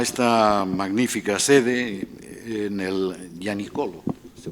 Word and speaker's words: Gianicolo: Les diré que hoy acudo a esta magnífica sede en el Gianicolo, se pronuncia así, bien, después de contemplar torres, cúpulas,